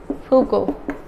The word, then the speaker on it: Foucault: It's pronounced Foucault, you should know that, and he is very, very important. He is a very important part of the post-structuralist theory. Michel Foucault.